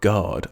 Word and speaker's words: guard: prime example for myself guard I don't think I've ever noticed that the you in guard is silent I just write the